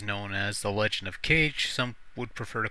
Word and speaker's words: Kage: Otherwise known as The Legend of Cage. Some would prefer to call it The Legend of Kage, since that's the approximate pronunciation.